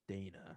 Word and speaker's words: Dayna: yeah, I think it's Yeah, it's a Dayna. weird spelling, but I think it's pronounced Dana, I think.